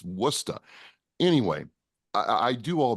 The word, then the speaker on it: Worcester: you know mistress I I first pronounced Worcester Worchester everybody does and you know I was like you freaking what are you saying it's wora anyway I I do